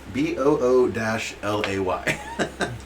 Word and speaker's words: Bulette: Bullet. Wow. Bull, Boul- I think it Boulette. says yeah. It's B- French. the Bullete pronounced BOO-LAY.